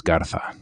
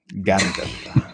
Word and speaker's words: Garza: He wants it pronounced like a Spaniard, so it's Garza. Garza. How he prefers it. The more lisp, the more historically accurate.